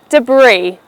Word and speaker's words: debris: It's pronounced as debris. Two syllables, de and brie. However, the second syllable brie is stressed, so the word goes as debris.